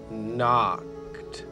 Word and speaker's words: knocked: house he can knocked the k is silent she's just keeping the end company while he does the talking so it's he knocked on the front door that's